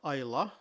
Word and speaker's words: Islay: So this is the island of Isa. You'll note that I've been pronouncing it that way throughout with a silent Y. It's not I good grief. It's definitely not Isl.